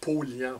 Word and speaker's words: Paulhan: Paulhan, ben, on prononce Paulian.